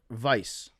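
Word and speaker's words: Weisz: Eric Vice or Eric Weiss, depending on how uh Vice Hungarian you would like to pronounce it.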